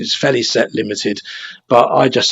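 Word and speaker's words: Félicette: well it's Feliz set is the the correct pronunciation is fairly set limited but I just say Felicity because it looks like Felicity to me but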